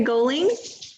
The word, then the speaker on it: Galling: uh let's see rebecca golding or galling i'm sorry how do you say your name okay it's um like all like oliver octopus so thanks um rebecca galling i've lived in loomis